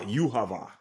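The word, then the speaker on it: Yhwach: like this okay so this is how you say the name oh name is as UAV ah yava yava doesn't even spell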